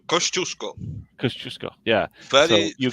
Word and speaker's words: Kościuszko: Yeah, Yeah, and so we have a Polish revolutionary hero, Kazuko. Yeah, you're right. Kościuszko.